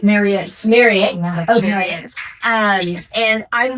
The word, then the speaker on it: Marriott: Marriott.